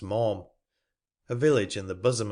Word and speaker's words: Malham: But I got safe over it, so there's an end, and came to Malham, pronounced Maum, a village in the bosom of the mountains, seated in a wild and dreary valley.